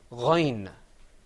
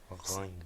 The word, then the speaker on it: غين: letter coming up on your screen is the Ghain sound. And you see the difference between the Ghain and the Ain is that the Ghain has a dot on top of it. So let's say Ghain. Ghain.